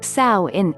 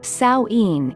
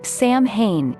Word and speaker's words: Samhain: of winter saw one is pronounced depending on where you're from as sow in in Ireland or sow in in Wales or save n in Scotland or inevitably Samhain in the US where